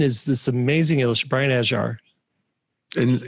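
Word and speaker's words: Ajhar: And it's pronounced Ajar. Ajar. And he'll correct you. It's funny. He had to correct me like five times during that class. I call him Ajar because that's what you call him. I know. That's how you say it. I know. I messed you up. It's okay, like he's Brian, like it's a, like a jar of peanut butter or something.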